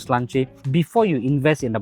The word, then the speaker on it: Sláinte: It's spelled Slainte. Sláinte நினைச்சு Sláinte சொல்லிடாதீங்க. Is Sláinte. Yeah, that is how they pronounce it.